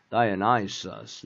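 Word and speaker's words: Dionysus: 그 다음에 이건 다이오나이소스, 그지? 다이오나이소스 이거 맨날 쓰니까 이제 뭘 썼지만. 그 다음에 허미스. 요거는 어떻게? 여기에 스트레스가 디미터. 데메테르가 아니고 디미터. 디미터. 다이오나이소스. 나이소스 액센트와 허미스.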